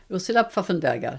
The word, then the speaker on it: Pfaffenberger: le dire votre nom de famille ouia fafenberg je mappelle en fait voilà donc vous êtes